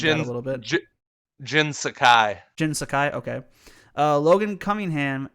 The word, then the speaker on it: Jin Sakai: Last of Us Part 2, Daisuke Tsuji as Jin Sake from Ghost of Tsushima. I probably butchered that a little bit. Jin Sakai.